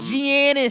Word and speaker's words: Giannis: Giannis. I believe that's the proper We pronunciation.